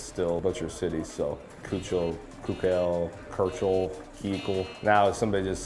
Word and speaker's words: Keuchel: Ground ball theater from Dallas Keuchel is how you say it, Keuchel.